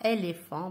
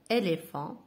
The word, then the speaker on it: éléphant: Par exemple, éléphant, yana PH, éléphant, ntkoha éléphant bil F, éléphant.